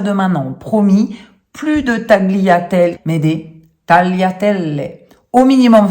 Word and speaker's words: tagliatelle: On ne dit pas tagliatelle, cela n'existe pas. Le groupe GLI en italien ne se prononce pas gli, comme en français où on a le mot par exemple glisser, mais se prononce li.